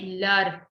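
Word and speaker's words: leurs: So more than one, you'll say lur, L-E-U-R-S. S will be there, but silent. So it's like when you talk about masculine singular, mo, ton, so, notre, votre, lur.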